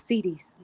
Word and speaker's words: cedis: US dollars and not cedis. Let me know if I'm pronouncing that right, Darla. That must be the Ghana word for dollars. Yeah, it's All right. CDs. Oh, huh? It's CDs. CDs. Thank you.